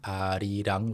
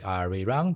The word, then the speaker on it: Arirang: So I've seen that a lot of people actually pronounce it in the Korean pronunciation, Arirang, like that, which is amazing. And if you pronounce it like Arirang, that's fine too.